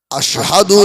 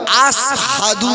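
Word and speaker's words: أشهد: ও ভাইজানেরা, হযরত বেলাল কালো মানুষ, তোতলা মানুষ, মদিনার মসজিদে আযান দেন, আশহাদু আল্লা ইলাহা ইল্লাল্লাহ আশহাদু না বলে শিলের উচ্চারণটা বেলাল আসহাদু বলে, সিনের মতো বলে।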